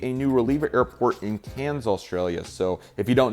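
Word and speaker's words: Cairns: And this airport's actually going to be a new reliever airport in Canes, Australia. So, if you don't know, there's an interesting pronunciation for the city cans here in Australia.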